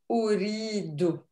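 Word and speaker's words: أريد: in word, is that on this hamza here, there is a dhamma. So an oh. So how do you pronounce this? Ana uridu.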